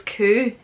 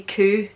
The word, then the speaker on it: Kuh: So in German, cow is Kuh, but here it's spelled differently, but people do say Kuh for cow in Scots and like Scottish slang.